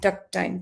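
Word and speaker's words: takt time: T A KT tuck time. Tact time.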